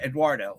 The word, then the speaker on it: Eduardo: say it you're saying you're not saying it wrong you're adding a w instead of the u so that's why eduardo okay then antonio antonio